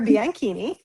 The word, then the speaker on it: Bianchini: So, I'm Bianini.